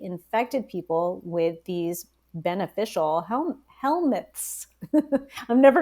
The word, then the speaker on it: helminth: do we all have helminths? Yep. How do you pronounce this?